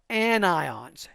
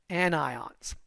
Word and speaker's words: anion: now negative charged are called anion a n i o n an ions okay those terms are